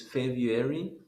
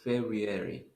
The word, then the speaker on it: February: this month okay so this month can have two pronunciations the first one is february and the second one is february yes so that's why it